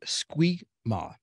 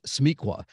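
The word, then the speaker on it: SMEQA: word for that and the word is squeak Ma and what that stands for I'm Excuse excuse me smiqua I said it wrong it's smiqua that stands for subject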